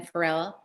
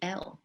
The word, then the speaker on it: Pharel: And then Pharel, Pharel. Pronounced like the singer, but not spelled like his.